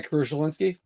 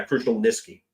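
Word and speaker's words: Krushelnyski: Oilers yeah he did my crucial Linsky yeah crucial nisi oh good I've been mispronouncing his name since NHL 92 there we go now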